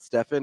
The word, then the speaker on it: Stephen: in a nice keti the literally the reason I call say it Stephen is because it probably is literally the only person I've ever seen in my life who pronounces it Stefan is Steph Curry the only person yeah